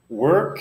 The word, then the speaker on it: work: pretty large topic work work is just listen to this it's almost like there is no vowels there it's like go right from the W to the our work build you have to